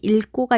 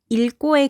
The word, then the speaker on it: 읽고: 그런데 겹다음 리을 기역 뒤에 기역으로 시작하는 어미가 올 경우에는 어떻게 소리내야 한다는 예외 조항이 있었죠? 그렇죠. 앞자음인 리을로 소리 난다고 했었죠. 원래는 힘이 없는 리을이 탈락하고